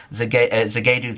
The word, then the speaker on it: Zagadou: They're getting linked with Borussia Dortmund's Dan Axel Zagadou, that's how you say his name as well.